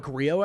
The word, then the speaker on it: Grillo: I think I've pronounced it 5 different ways, and I've heard it pronounced 5 different ways. So yeah. I usually go with Grillo, actually, Emiliano Grillo.